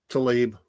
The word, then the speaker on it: Tlaib: It's off Fox, but the squad member Rashida Tlaib, however you say her name, is it Tlaib? Tlaib.